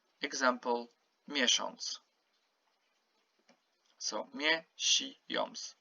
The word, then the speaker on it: miesiąc: Here I put the OM just to remind you that on, this is how you pronounce it, okay? As if you have OM or ON or ONG, okay?